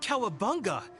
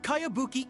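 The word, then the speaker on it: Kayabuki: strange name who's this cowabunga it's pronounced kaiabuki ek that would be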